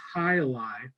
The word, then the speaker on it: jai alai: So Jai Alai, however you want to say, the way you actually pronounce it is Jai Alai.